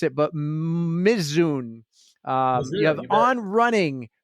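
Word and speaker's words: Mizuno: all the big ones how do I pronounce the one I couldn't pronounce it's so so it's it's Mazuno and and your your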